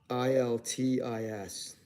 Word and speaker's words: Iltis: How do you pronounce that? ILTIS.